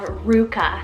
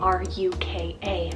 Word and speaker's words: Ruka: girl side we have Ruka as well r-u-k-a Ruka I feel like this one has this fun and peppy kind of sound to it very similar to Luca which I feel that